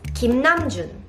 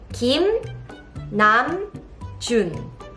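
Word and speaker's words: 김남준: And in this video, you are going to learn how to pronounce BTS members' Korean names correctly. Then let's start. The first name is Kim Namjoon. Kim Namjoon. Kim Namjoon.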